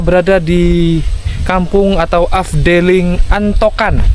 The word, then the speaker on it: Antokan: Tepatnya kita berada di kampung atau afdeling Antokan. Antokan apa Antoan ya? Tulisannya itu A N T O K A N. Kalau sesuai ejaannya itu antokan ya. karena tapi ada beberapa orang menyebutnya Antoan.